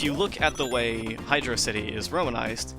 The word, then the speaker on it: Hydrocity: implies that through through emphasizing the Oh sound and hydro instead of making it I draw it implies that yes it's meant to be pronounced hydrocity and the reason that's